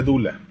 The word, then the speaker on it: Doula: Se escribe Doula, se pronuncia Dula.